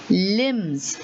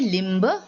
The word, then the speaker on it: limb: is one limb okay so do you say limber no you say lim okay so the b is silent over here let us look at